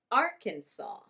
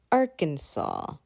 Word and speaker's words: Arkansas: of the word because it is not said how it is spelled it is close to how it is pronounced in french we say arkansas arkansas and the capital